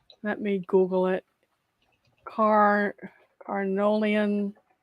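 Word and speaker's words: Carniolan: never say it correctly let me Google it car arnolian c-a-r-n-i-o-l-a-n carniolin honeybee huh okay uh native to Slovenia Southern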